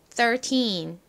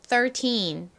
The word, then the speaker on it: thirteen: 되죠 13이 뭐였죠 1이죠 가장 처음에 나는 소리가 쓰 소리입니다 쓰 소리 나는 이중 자음은 th 이죠 3 할 때에도 th 시작을 했잖아요 1에서도 th 시작합니다 쌍디귿처럼 발음이나요 그리고 th 이니까 소리